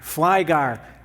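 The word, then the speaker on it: Flygare: Flygar. Well, that's exactly how it's spelled. I could have just said Flygar right there, F-L-Y-G-A-R-E. Good job.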